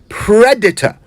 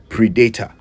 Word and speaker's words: predator: harming or exploiting them so that's Predator not Predator I believe that mispronunciation first gained common use in Ghana in the 80s with